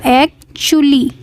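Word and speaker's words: actually: एक्चुअली की meaning देखिए इसका प्रोनाउंस ऐसे होगा एक्चुअली टी यू को चा पढ़ा जाएगा एक्चुअली एक्चुअली मींस होता है दरअसल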